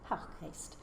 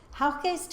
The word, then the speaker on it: Houckgeest: I know there's a debate about the pronunciation. I'm going to say Haukgeest.